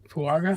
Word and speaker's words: Fuaga: The dude from Oregon State, Fuaga.